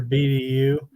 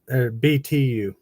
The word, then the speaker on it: BTU: burns at a higher BDU and some of it or BTU yeah British thermal unit is what they call it it's a t I always say it